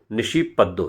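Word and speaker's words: নিশিপদ্ম: बनी थी बांगला फिल्म निशि पद्मा और फिल्म के निर्देशक स्वामिक सेन बताते हैं कि यह बांगला की बहुत मशहूर फिल्म है और इसका उच्चारण बांगला के मुताबिक निशी पद्दो है शक्ति सामंतास बनाने का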